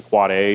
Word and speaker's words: AAAA: how to write it it's pronounced to quad a but it's written an aaaaa record or a I'm not